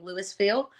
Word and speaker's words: Louisville: um there's a lot of different ways people pronounce that it's actually Louisville and a lot of people get it confused